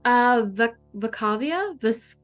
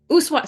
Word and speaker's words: Ushuaia: Vacavia? Voskvaya? Ushuaia. Sorry, it looks like a V. Ushuaia, Argentina, please.